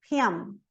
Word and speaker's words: hymn: MB, não pronuncio o B, então. Com, climb, lamb. MN, column, autumn, hymn.